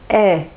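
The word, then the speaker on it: aie: Alors attention lorsque vous voyez à l'écrit A-I-E, donc ce n'est pas aïe, hein, mais c'est est. Donc prononcez bien est.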